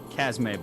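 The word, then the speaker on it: Chasme: two vials of what i'm gonna call uh casmay blood uh you can spell uh spell that out c-h-a-s-m-e blood just for pure curiosity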